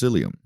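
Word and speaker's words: cilium: to know is cilia singular it would be pronounced psyllium these are going to be short hair like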